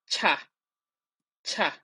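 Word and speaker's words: 차: So the sound is ch. As you can see here, it's the ch as in cheese. Ch. So one tips here is that when you pronounce this uh uh ch sound, you always blow some air out of your mouth.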